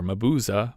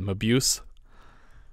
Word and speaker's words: Mabuse: Thanks to Stephen for the correct pronunciation of Dr. Mabuza, which I think I previously called Mabuse.